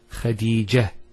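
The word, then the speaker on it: خديجة: I actually pronounced the ta marbuta as a ha. Medina, Khadija. Now if I stop on the ta marbuta, it's actually pronounced as a ha in both cases.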